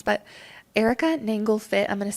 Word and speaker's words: Nanglefit: Yeah, you can find me My last name is a little hard to pronounce, but Erica Nanglefit.